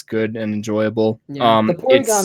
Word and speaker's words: Porygon: It's actually, but it's polygon. No, it's not. Yeah. Have you been pronouncing it polygon your whole life? Look at this guy. He doesn't even say polygon. It's Porygon, actually.